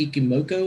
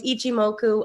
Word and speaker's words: Ichimoku: do you find that how do you say that iki moko or whatever it is don't ask me how to pronounce stuff it's Ichimoku I wouldn't for multiple years in public before I got it right so it is ichi moku that is the name